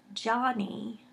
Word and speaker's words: Yanni: yes and thank is I believe it's Johnny but it's spelled Yanni and it her channels